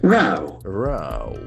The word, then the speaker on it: row: But here it has got another meaning and you have another pronunciation short. Row row.